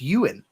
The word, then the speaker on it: Ewan: Is it not Yuan? No, it's Ewan. What did I say? Yuan. Did I say Yuan? Ewan. Yeah, it's like Ian, but Ewan.